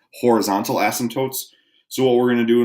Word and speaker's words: asymptote: what's called an asymptote there's a P in there and you don't really say it it's pronounced asymptotes also kind of sounds